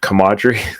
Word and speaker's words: camaraderie: But what I'm getting at is like definitely the I can't say this word, camaraderie.